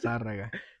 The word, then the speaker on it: Zarraga: Zarraga. Took me a little bit just to pronounce it correctly.